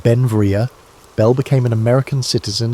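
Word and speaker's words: Beinn Bhreagh: Pronounced Ben Vria, Bell became an American citizen in 1882, but his name meaning beautiful mountain in Scottish Gaelic showed his Scottish heritage.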